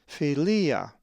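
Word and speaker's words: φιλία: A Greek word that has the lowercase phi is philia, which means friendship and is number 5373. The accent is over the second iota, philia.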